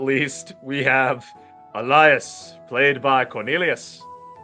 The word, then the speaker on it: Elias: not least we have Elias played by Cornelius you know it's pronounced elas right it has always been pronounced elas he even changed the spelling so you people could say it right listen listen listen what